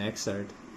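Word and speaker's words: excerpt: The following, जो poem आप पढ़ेंगे, इज एन एक्सर्ट, एक खंड है, इसमें पी साइलेंट है, इसको ध्यान देंगे।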